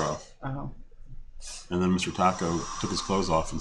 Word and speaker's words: Tako: How do you know it's not Tako and Baco? Because T-A in Japanese is pronounced Ta.